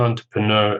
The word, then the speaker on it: entrepreneur: is an entrepreneur and entrepreneur as a person who creates uh new businesses out of nothing and so on it's from French and actually which is why the pronunciation is a bit strange entrepreneur so my brother